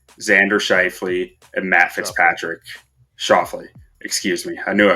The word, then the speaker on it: Schauffele: Schauffele. Excuse me. I knew I was going to pronounce it wrong.